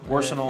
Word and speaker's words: Warsenal: I keep saying it wrong. It's War and Arsenal mashed together. Warsenal.